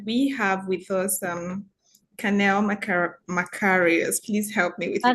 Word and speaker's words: Maricaux: the host for today, and we have with us Cannelle Maricaux. Please help me with your Maricaux. pronunciation. Okay, Maricaux.